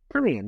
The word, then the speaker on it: Kurian: else, but it's it's Brian is it Korean? Korean, yeah, that's it.